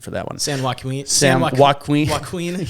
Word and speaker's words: Joaquin: butchered for that one San Juan Queen yeah boy it's uh Joaquin Phoenix so it's kind of like his name Joaquin Valley maybe that's what it is yeah uh I don't